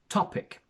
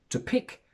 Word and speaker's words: topic: topic we see that the stress comes before the first syllable which means that the first syllable is a stressed one so we say topic instead of to pick which would be the option if the stress fell onto the second syllable we have seen that